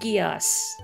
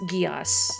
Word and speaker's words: Geass: It is pronounced Geass. I knew before I had seen the series, I had no idea. But it is pronounced Geass.